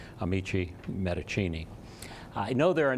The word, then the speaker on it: Amici Medicinae: and that is that we have gone to the Italian pronunciation, to the Latin pronunciation, actually. And so henceforth, we will be called Amici Medicinae.